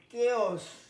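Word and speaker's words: chaos: তারপরে দেখো কেওস, এ অ, কেওস, কেওস।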